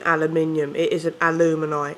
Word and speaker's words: aluminium: Aluminium. It's fucking aluminium. It isn't alumini. It's fucking aluminium. I don't care if you invented it. It's still aluminium.